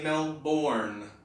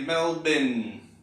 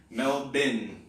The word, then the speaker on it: Melbourne: like me to say male born but Australians say meld been so if you think of the bin in the corner of the room the trash can melt bin you're getting a bit